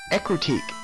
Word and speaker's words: Ecruteak: I need a history of Ecruteak. That's how you pronounce it, Ecruteak.